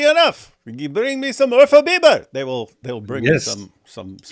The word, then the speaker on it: Urfa Biber: There's no such thing as Ufra Biber. You mean Urfa Biber? Urfa? Biber? What's that mean? That is a don't ask me things, man. It's a spice. Oh. The spicy pepper spice. Nice. Biber is pepper. Urfa Biber. That's how you say it.